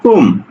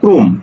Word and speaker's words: ক্রম: এজন্য হয়ে গেছে কি ক্রোম ক্রোম ক্রো আমরা ক্রম বলি না বলি কি ক্রোম ওকে এরপর দেখো প্রথম